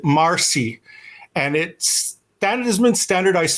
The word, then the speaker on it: merci: But we don't pronounce it merci like the French Canadian. We pronounce it marcy.